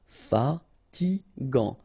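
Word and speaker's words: fatigue: So it's g final t not pronounced fatig.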